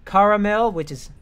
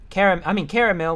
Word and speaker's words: caramel: The word caramel can acceptably be pronounced in several accepted ways, including caramel, caramel, which is how I say it, caramel, and caramel. It's only caramel in Northern American English.